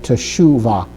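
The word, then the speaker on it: תשובה: And then we have the vav with the sherukq and that gives the sheen an ooh sound. Okay. To make tshuva.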